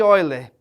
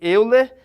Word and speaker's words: Euler: embaixo a fórmula de oiler embora a gente consiga ler Euler mas o nome é pronúncia é olha certo a fórmula de